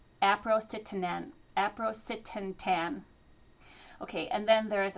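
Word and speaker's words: aprocitentan: It's spelled A P R O C I T E N T A N. Aprocetan.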